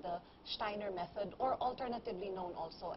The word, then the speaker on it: Steiner: Yes, okay. Steiner. Not Steiner. Well, some will say Steiner, some will say Steiner, but mm-hmm. Rudolf Steiner, I believe, is the correct way of pronouncing his last name.